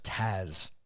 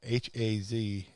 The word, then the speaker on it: Haz: I think you're pronouncing that wrong. It was Taz with a T. No, it was Harry's friend, H-A-Z, Haz.